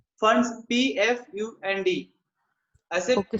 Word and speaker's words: Pfund: फंड्स, PFUND, ऐसे Okay. P से फंड बोलना चाहिए पर I think P silent generally, फंड series बोलेंगे।